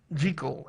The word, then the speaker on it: Jekyll: Jekyll and Mr. Hyde. Jekyll, actually.